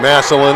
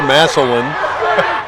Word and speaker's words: Massillon: How about this jamboree of football in Canton, Ohio, and here in Massillon or Massillon? Massillon or Massillon. We've heard the locals say Massillon, and we've heard network radio spots say Massillon.